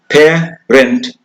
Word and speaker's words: parent: For example, here, parent, two syllables, but the stress is on the first part. Parent. I am a parent. Come with your parents. So the stress is on the first part. In the second syllable, you have an E letter here, but it is in pronouncing, we say it parent. It's very weakened. So in such a weak position, whenever the stress is far away, we will bring in a the schwa sound, which is a.